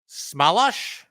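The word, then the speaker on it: Chmelař: I wrote down the pronunciation. If you bear with me for a second here, Smalash. Apparently that's the pronunciation. That's what Sam Rosen was going with. And Sam found out that was the pronunciation, apparently from Filip Chytil.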